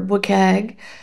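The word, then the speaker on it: WCAG: The web content accessibility guidelines or WUKG as we pronounce it are undergoing a significant transformation with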